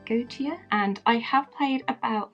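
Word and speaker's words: Goetia: i have got here gautier i i don't know if i'm pronouncing this right it's g-o-e-t-i-a go to and i have played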